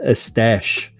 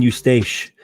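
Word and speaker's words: Eustache: a dummy says pronounce estash okay i was saying you stache like you stacy all right or eustace yeah i was pronouncing it as it was spelled thank you for that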